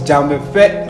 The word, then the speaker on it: Dzamefe: I'm here with Dzamefe. You got it. That's how you pronounce Dzamefe, it. yeah, that's Dzamefe.